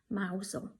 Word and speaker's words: Mousehole: You actually pronounce it Mousehole.